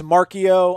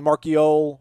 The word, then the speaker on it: Marchiol: I think it's Marchio. I don't know if the L is silent or not. It could be Marchiole or just Marchio.